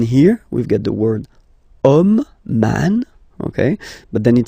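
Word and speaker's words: homme: we've got the word om man okay but then it start with Ash as in French a is not pronounced so the first sound that we hear is O Okay and then it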